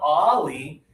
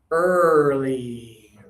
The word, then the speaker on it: early: A lot of people do this as instead, but it's not ollie. This one is, think about your lips. Your lips are forward and open. Early.